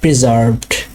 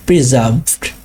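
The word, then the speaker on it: preserved: একটু প্রেশার দিতে হবে, প্রিজার্ভড, আরটাকে একটু এমফাসাইজ করতে হবে। বাট আমরা যদি ব্রিটিশ অ্যাকসেন্ট ফলো করি তাহলে এটা বলতে হবে প্রিজার্ভড, প্রিজার্ভড। আরটা উচ্চারণ করব না, এখানে আর সাইলেন্ট থাকবে।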